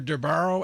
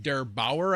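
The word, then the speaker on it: der8auer: say thank you to darbaro and act sorry I don't even mind have said that right derbauer I think is how you pronounce it and actually Hardware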